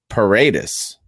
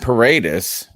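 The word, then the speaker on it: Paradis: they have Matt par which I also heard someone who sounded more important than me say paradus so maybe I've been mispronouncing his name Min prasing his name Matt paradus right so look we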